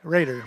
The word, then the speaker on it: Roeder: 26, Karsten Roeder. Is that how you say it? Raider. Raider, thank you.